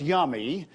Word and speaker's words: YMMY: He's Director of Creative Strategy for YMMY Marketing in Tampa, pronounced Yummy, and his clients include major brands.